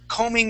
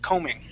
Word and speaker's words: combing: is combing that b is going to be silent okay now with that word that's combing your hair that's when